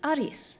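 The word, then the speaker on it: アリス: for Alice over time translators began to use Aris which is just the name Alice with a Japanese pronunciation it works very nicely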